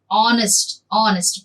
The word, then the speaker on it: honest: An honest person. See, these H, honest, H is silent there.